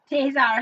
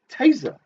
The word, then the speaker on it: taser: Taser him. It's not. You don't pronounce it taser. Why would you? Taser. Taser. It's like to rhyme with laser.